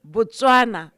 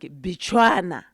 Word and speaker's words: Botswana: It was just the British not knowing how to pronounce Botswana. So to them, Botswana sounded like Bechuana.